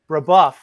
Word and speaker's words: Brebeuf: I'm going to pronounce it wrong. Was it Brebeuf? Brebeuf.